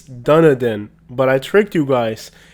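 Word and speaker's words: Dunedin: say lol i got you but yes it's pronounced dunadan it's crazy how far us youtubers have to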